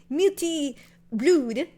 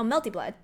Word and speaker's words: Melty Blood: Okay, but if we read Melty Blood, we know it's Melty Blood. We don't look at it and be like, how do we pronounce it? Is it Multi Blood? No one says that. Everyone reads Melty as Melty and Blood as blood. So we go Melty Blood.